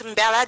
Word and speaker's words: Mbella: My name is Mbella, the M is silent.